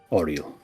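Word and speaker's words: Auril: And she is known as the frost maiden, Oral.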